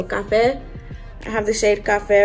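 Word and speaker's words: Café: I'm pretty sure you're supposed to pronounce that with the Spanish accent. So Cafe.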